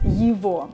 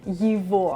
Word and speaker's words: его: video on letter G, I'm describing why I'm not saying его, but instead I'm saying его. There's a whole pronunciation rule. Please go check out that video to learn why I'm saying его.